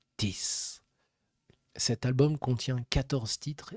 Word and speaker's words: TIS: Le 5 septembre 2025, Diana Diana publie l'album T I S prononcé Tiss.